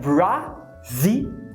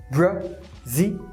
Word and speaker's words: Brazilian: Quando você vê a palavra brasileiro, que é Brazilian, você vê o A escrito e provavelmente você pronuncia Brasilian. Quando na verdade esses dois As são schwas, Brazilian.